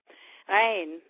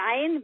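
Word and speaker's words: عين: Ain, it means, I spell it with a little dash, E-I-N. The dash is a funny consonant in Arabic called an ain. It sounds like strange sound to us people, but you get the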